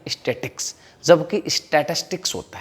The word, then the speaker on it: statistics: स्टैटिस्टिक्स को 90% लोग तो स्टैटिक्स बोलते हैं। क्या बोलते हैं? स्टैटिक्स, जो कि गलत है। प्रोनाउंसिएशन जो उसका है एकदम गलत करते हैं, स्टैटिक्स, जबकि स्टैटिस्टिक्स होता है।